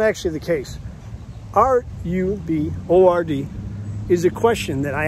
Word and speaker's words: RUBORD: The other hashtag that a lot of people ask me about is R-U-B-O-R-D. I pronounce it RUBORD.